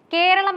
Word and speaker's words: കേരളം: പരിഗണിക്കേണ്ടതുണ്ടെന്നും അദ്ദേഹം ഓർമിപ്പിച്ചു പല ഉത്തരേന്ത്യക്കാരും വിദേശികളും കേരളം എന്നതിനു പകരം കേരള എന്നാണ് തെറ്റായി ഉച്ചരിക്കാറുള്ളത് ഇത് മലയാളികൾക്ക് പലപ്പോഴും എപ്പോഴും കൈപ്പേറിയ